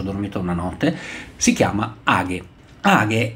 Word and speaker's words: age: all'istante cose belle di ha hagh che si scrive AG Io all'inizio pronunciava age in realtà poi ho scoperto che si pronuncia ha perché direttamente il suo creatore lo specifica all'interno del sito ha è uno strumento